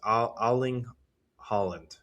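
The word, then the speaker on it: Erling Haaland: think his name is Aling Holland. I think I don't think you pronounce the e er evidently.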